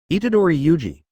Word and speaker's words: Itadori Yuji: I got the protagonist name wrong, it's my mistake. Itadori Yuji, Itadori Yuji, Itadori Yuji. Say it 3 times to avoid making mistakes.